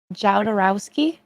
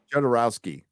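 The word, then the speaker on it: Jodorowsky: picked up cop uh the I can never pronounce his last name but jodowski jordanwowski has uh jodorowski jodorowski I'm always saying it wrong but um there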